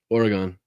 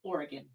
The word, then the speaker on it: Oregon: Um, people have requested that you pronounce Oregon correct me. What does that mean? How do you say it? Oregon. It's Oregon.